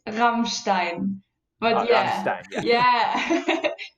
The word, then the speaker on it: Rammstein: Rammstein, if I'm pronouncing it correctly. Oh, it's Rammstein.